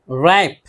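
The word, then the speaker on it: wrap: रैप, रैप लपेटना, तय करना बोलते हैं, तय करते हैं।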